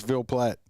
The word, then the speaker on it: Ville Platte: Ville Platte. Ville Platte. What? It's Ville Platte.